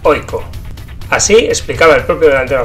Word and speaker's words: AIK: de la mano de Aiko Asolna, que por cierto, como veremos enseguida, se pronuncia Oiko.